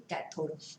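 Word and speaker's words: cathode: कैथोड का spelling C से start होता है, लेकिन हमारे सब्जेक्ट में सी अगर हम लिखते हैं तो हम उसको कैपेसिटर कंसिडर करते हैं। इसीलिए डायोड का जो निगेटिव टर्मिनल होता है जिसको हम लोग कैथोड बोलते हैं, वो प्रोनाउंसिएशन से उसको के लिखा जाता है।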